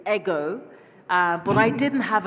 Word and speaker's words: Eg: personally and you know my name is spelled EG it's ego uh but I didn't